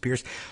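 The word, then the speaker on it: Peirce: In response to that minor enforcement action, Trump appointed SEC Commissioner Hester Pierce, and spelled P-E-I-R-C-E, but I think it's probably pronounced Pierce, launched a broadside against the pay-to-play rule, saying it was an exceedingly blunt instrument.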